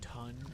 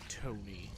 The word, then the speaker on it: Ton: And if you hadn't seen my previous episode, that's not pronounced ton, that's pronounced Tony.